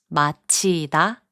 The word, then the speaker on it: 맞히다: In the last group of words, 지읒 and 히응 are combined to make a 치읒 sound. 맞히다, to guess right, is pronounced as 맞히다. 꽂히다, which means to be stuck, is pronounced as 꽂히다. 앉히다, which means to make someone sit, is pronounced as 앉히다.